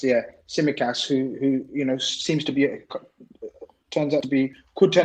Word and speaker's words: Tsimikas: Tsimikas, yeah. Tsimikas, who you know could turn out to be a very shrewd signing.